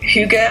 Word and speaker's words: Hygge: And I think that's really how do you pronounce it? Hygge?